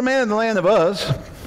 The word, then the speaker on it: Uz: There was a man in the land of Uz. And it wasn't Oz, it was Uz.